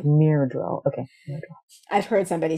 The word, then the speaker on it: Myrddraal: Myrddraal. Yes. Myrddraal. Very good. You are good at pronunciations. My goodness. This looks like a Welsh word with its double D's. I think, and it also sounds like murderer, so that's kind of awesome.